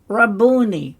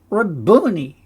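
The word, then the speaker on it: Rabboni: five noon Yi raboni my master and that's an interesting um word cuz reborn is a masculine noun means Master Sovereign or Lord interestingly raboni was a Galilean pronunciation A totle of honor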